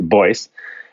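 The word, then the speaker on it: Beuss: like it's pronounced like in Germany you say Boyce and then it got anglicized I think when I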